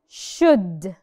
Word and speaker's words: should: برضو ما نطقناش حرف ال L. Should. عشان قبل ال L جالنا واحدة من الثلاثة vowels ال U. One of the three vowels ال U. أول ما بتظهر قبل ال L, we do not pronounce it.